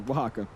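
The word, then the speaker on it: Oaxaca: Yeah, Wajaka. There you go. Wajaka.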